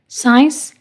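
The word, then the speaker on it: science: Example साइंस। अब देखो, एस के बाद क्या आ रहा है, सी, तो सी यहाँ साइलेंट होएगा।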